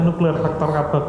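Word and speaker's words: NF-κB: penelitian pertama itu kan nuklear faktor KB. Bacanya nuklir faktor KAB ini kan ee teraktifkan ya.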